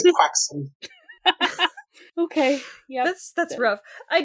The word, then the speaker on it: croissant: For those of you playing along at home, that's a joke of how Tom Holland pronounces croissant. Croissant. Get his ass. No, he says croissant.